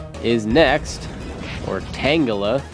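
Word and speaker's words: Tangela: Burmy goes down and tangula is next or tangala I think it's actually pronounced tangala I just I've always said tangula but oh well apparently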